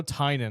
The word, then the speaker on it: Tynan: I know Tynan, that's how you pronounce it, but I don't know how you pronounce the first name.